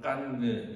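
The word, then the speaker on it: Cannes: 뭐 칸 영화제 혹은 깐느 영화제라고 부르는 그 CD 이름이 깐입니다. 칸 깐느라고도 하고 뭐 불어 발음이냐 영어 발음이냐에 따라서 칸 뭐 깐느들 하더라고요.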